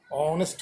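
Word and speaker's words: honest: तो साउंड में हम लोग हॉनेस्ट नहीं कहते हैं, ऑनेस्ट कहते हैं। H जो है वो प्रोनाउंसिएशन नहीं करते हैं, इसलिए यहाँ भी एन लगा दिए।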